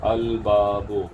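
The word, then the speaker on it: الباب: अल बाबो, यहाँ पे बाब में का, बाब से पहले जो अल है उसका लाम प्रोनाउंस हो रहा है, क्योंकि बाब का बा जो है वो ख़मरी हर्फ है, आगाज़ जिससे हो रहा है।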